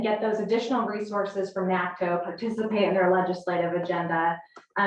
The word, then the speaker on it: NACTO: Okay, you're going to talk about membership in NACTO.